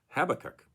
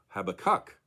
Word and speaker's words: Habakkuk: discover others pronouncing it habakkuk with the emphasis of course on the third and final syllable well really confused now